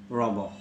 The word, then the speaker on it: Rimbaud: The spelling is Rimbaud, but as he is a French, he's a French personality, so the pronunciation should be Rimbaud.